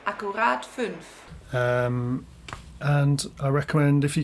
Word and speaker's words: Akkurat 5: So there you go, Vincent Akkurat 5, which should be pronounced Akkurat 5.